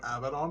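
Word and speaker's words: Abaddon: fun of like North Americans for calling him abidon it's like but that is how it's pronounced is Gilman there like uh Ruto or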